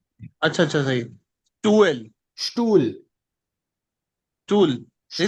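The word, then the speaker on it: Stuhl: स्टूल, tool. नहीं तो स्टूल। एच एच एच हाँ साइलेंट स्टूल, रहेगा। हाँ यहाँ पे एच साइलेंट हो गया, स्टूल, स्टूल।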